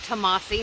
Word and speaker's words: Tamasi: It's Tamasi, not Tamasi. So that's 3.5 miles from here.